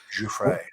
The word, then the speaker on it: Giuffre: Giuffre.